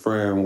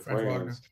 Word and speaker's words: Franz: I think Orlando next man up is better, which is Fran Wagner, how you say it? Franz.